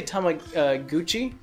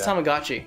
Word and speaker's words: Tamagotchi: and yeah by the way did Bill say Tom like Gucci yeah it's Tamagotchi Tamagotchi oh sorry well it's pronounced with a long a sound so hamaguchi